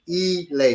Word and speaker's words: ile: ILE, Elay is how that's pronounced.